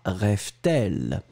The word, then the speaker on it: rêve-t-elle: and between the two, you will put the T just to make it, smoother to pronounce. À quoi rêve-t-elle?